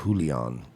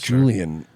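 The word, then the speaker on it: Julián: of all it's not Julion uh it's Julion it's not julan jul it's Julian Castro jul it's not Julion I'm sure he probably hasn't awo that calls him that that pronounces it that way off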